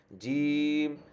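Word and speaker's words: ج: ছয় নাম্বার মাখরাজ হচ্ছে জিহ্বার মধ্যখান তার বরাবর উপর তালুর সঙ্গে লাগাইয়া জিব আমি যদি এটা টাকে জিম বলি জিম আমি কিন্তু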